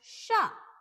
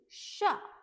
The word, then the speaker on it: chat: Next example we have is sha, sha. Let me tell you this, if the T is coming at the end of the word, then it will be a silent T.